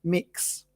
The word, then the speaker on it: Mx: to know about it it's pronounced mix MX in this case we